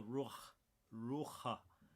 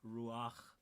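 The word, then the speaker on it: רוח: It's all ruach, or ruach, depending on how you pronounce it, but it's spelled ruach.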